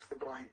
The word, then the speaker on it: Ibrahim: Ibrahim. Okay. Ibrahim. Ibrahim. Pardon? Ibrahim. Ibrahim. Ibrahim. The stress is on Yeah. the second syllable.